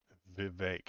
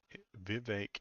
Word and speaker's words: Vivek: let's get started with Vivek it rhymes with cake that's the way he said it he said he came up with that not me Vivek it rhymes with cake